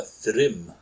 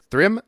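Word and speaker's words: Thrym: Uh Thrim. Thrim. That's how it's pronounced. Thrim.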